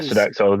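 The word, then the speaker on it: Sodexo: It was run by a company called Sedexo. Sedexo. Am I pronouncing that right? Yeah, it was. Yeah. Yeah. Sedexo.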